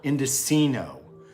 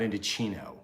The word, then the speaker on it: Indochino: Oh, by the way, thanks everybody for correcting me so much from last week's show about my pronunciation of a particular Indocino, not Indochino.